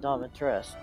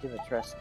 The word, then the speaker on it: Dimitrescu: She pronounces it Domitresc, but everybody's Eastern European is like Dimitrescu is how you say it.